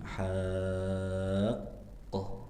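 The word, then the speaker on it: حاقة: Jadi haqqoh jadi ha qoh. Tiib. Baik. Dan cara pengucapannya ha dibaca enam harakat berarti maksimalkan. Enggak boleh dua, enggak boleh empat ya. Minimal 6 harakat ya.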